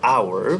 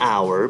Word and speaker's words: hour: But based on the pronunciation and the sound, H is silent and we start pronouncing from O. So it is better to say an hour because H is silent here.